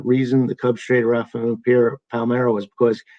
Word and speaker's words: Palmeiro: Then Jonathan Traum says, when people said that the reason the Cubs traded Rafael Palmeiro was because Carey couldn't pronounce his name right and kept calling him Palermo.